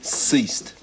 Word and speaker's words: ceased: letters k i s not bad but it's a soft C ceased it means yeah it